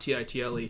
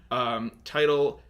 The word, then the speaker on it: Tidal: Yeah, it's Tidal. It was on the tip of my tongue. It's spelled like a tidal wave, though, not Title, Tidal.